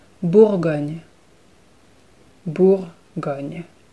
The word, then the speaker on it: Bourgogne: Bugan Bugan Bugan again the r is really subtle but it needs to be there it needs to be pronounced Bourgogne bull going you it's